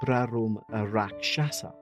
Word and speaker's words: Brahmarakshasa: Rumor had it that it was haunted by something called a Brahmarakshasa, pronounced as Brarum Rakshasa. Say it faster.